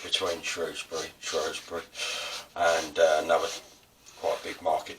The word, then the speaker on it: Shrewsbury: Shrewsbury seems to be the correct way, since as the word was spelled S-H-R-O-O-S-B-U-R-Y. So it is Shrewsbury.